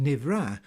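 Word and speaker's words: נברא: Believe it or not, Navarre is a Hebrew word nowadays pronounced Nivra and means created or formed.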